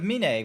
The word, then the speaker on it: Mine: m I know it's I know it's spelled like mine but it's min hell no wow